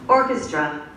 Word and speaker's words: orchestra: Orchestra. One more time. Orchestra. K or ch? K. Orchestra. Orchestra.